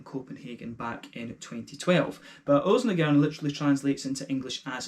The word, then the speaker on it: Ølsnedkeren: So, Ølsnedkeren, as it might sound, or Ølsnedkeren, as you actually pronounce it in Danish.